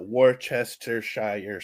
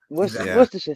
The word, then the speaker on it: Worcestershire: This American thing where we have to pronounce every syllable. Yes. Because, we call it Worcestershire sauce. Yes. Worcestershire sauce.